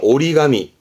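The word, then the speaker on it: 折り紙: 종이를 접는 종이 적입니다 발음은 오리가미 오리가미 요때는 땡땡 붙어서 발음이 오리가미 그렇죠 이게 손으로 종이에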